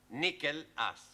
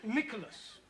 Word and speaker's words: Nicholas: upon a times there was a man called nickel ass it's not quite right no no once upon a time there was a woman called Nicholas it's pronounced Nicholas so right once upon a time there was